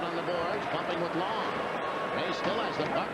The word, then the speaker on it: Lang: His name is Long. It is spelled L A N G, but pronounced Long.